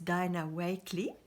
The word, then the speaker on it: Dina Wakley: par l'artiste Dina wake en anglais ou le prononce dynawakley essaye de la marque